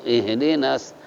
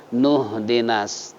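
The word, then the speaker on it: اهدنا: na'budu wa iyyaka nasta'in ihdinas, jangan, tapi bacanya nuh dinas. Nah, alasannya apa? Ini alifnya alif wasol, jadi nggak perlu nasta'inu ihdinas, tapi nasta'inu dinas. Jadi seakan-akan alif dibuang, ya, karena alifnya alif wasol.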